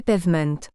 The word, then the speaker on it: pavement: sur une définition précise les anglosaxons disent pavement prononcé pevem certains Européens parlent de